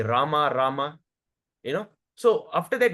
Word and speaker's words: Rama: So ensure that you are saying it properly, correctly, pronunciation is correct, you know, not Ram Ram supposed be Rama, Rama, you know.